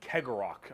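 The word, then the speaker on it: Cegorach: guarded by their god named kegerok I believe is how you pronounce his name he is the Laughing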